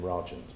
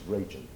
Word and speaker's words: Rajant: Anybody from a UK-centric background pronounces the name Rajant because it has the associations with the Raj, the Indian connection.